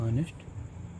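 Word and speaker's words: honest: एन ई एस टी, ऑनेस्ट person. ठीक, तो एन लगा। तो ये यहाँ पे एच मतलब कॉन्सोनेंट है लेकिन हम इसके प्रोनाउंसिएशन पे स्वर आ रहा है इसलिए हमको एन का यहाँ पे प्रयोग किया गया।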